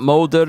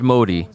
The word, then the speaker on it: Modi: got the name wrong it's not molded it's Modi they are no longer